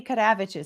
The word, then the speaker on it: Kadavich: So Mandy Kadavich asks, by the way, I'm pronouncing that in the Lithuanian way.